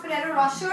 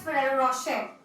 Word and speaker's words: Ferrero Rocher: So I said that it's not Ferrero Rocher, it's Ferrero Rocher, and that got me viral.